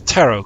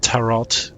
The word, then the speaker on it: tarot: a cosmos the Stars tarot card which funny enough is one of the cards of the quote-unquote normal tarot deck yeah you pronounce it Tarot not Terrell Tarot anyway we started from